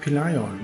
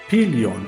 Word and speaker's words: Pelion: Ja, und eine Streitmacht marschiert gen Berg Peleion. Wobei ich festgestellt habe, dass ich das die ganze Zeit verkehrt ausgesprochen habe. Es wird nämlich Berg Pelion ausgesprochen.